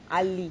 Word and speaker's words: ali: mention someone's name as ali or what no no no no no it's ali ali yes it's ali your